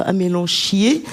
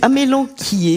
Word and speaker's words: amélanchier: Alors, dit-on amélanquier ou amélanchier, comme j'ai entendu certains le prononcer. C'est pas beau ça, amélanchier.